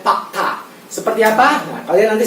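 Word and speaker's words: Pak Da: Tulisannya da ya, tapi dibacanya ta ya. Pakta.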